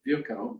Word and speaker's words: Virchow: Berlin Charité Hospital, Rudolf Virchow, you can pronounce it various ways, but I've been told that's how they did it in his part of the country, who published a weekly medical journal as the revolution waxed and waned.